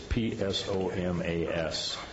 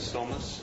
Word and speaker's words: Psomas: guess it would be, silent P, is PSOMAS, for continued professional engineering services associated with Mountain Ranch Road safety improvement projects. Good morning, Jonathan. Good morning. The pronunciation there is SOMAS.